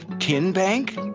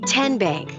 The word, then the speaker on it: TN Bank: you enroll wildcats roll how do you say the name tn bank no tin bank uh-uh so what is it ten bank ten as in tennessee right here where all